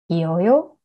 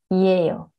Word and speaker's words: 이에요: And then 이다 plus 어요, 이어요. Not really, 이에요.